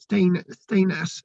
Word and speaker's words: Stenness: The name, which is pronounced Stenness, right, which could be in the beginning, or Stain as in stone of Ness.